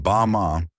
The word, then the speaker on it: Bama: Meanwhile, in a remote valley in southern China called Bama, pronounced Bama, one in every 3,000 people lives past 100, active, muscular, working in fields, carrying water.